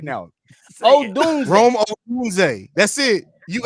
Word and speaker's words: Odunze: Aduzie. You never try to throw flair on there too. Like, you just shit. Pronounce that shit right now for me, right now. Odunze.